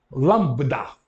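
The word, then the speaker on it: λάμβδα: Então, o nome dele, Lambda.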